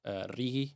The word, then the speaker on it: RIGI: So in YPF's case, it's not only the largest investment that's been announced under RIGI, as it's pronounced in Spanish, it's also essentially the largest investment ever announced in Argentina, right?